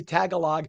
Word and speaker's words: Tagalog: And by the way, I was corrected. We say Tagalog. Friends of mine from the Philippines say they're called Tagalogs, and I'm like, okay. Apparently that's how you say it.